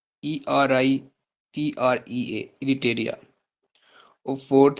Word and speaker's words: Eritrea: Third है हमारे पास इरिटेरिया, ERITREA, इरिटेरिया। और फोर्थ है हमारे पास जिबूती, जिबूती के स्पेलिंग आप लिख लें, DJIBOUTI, जिबूती।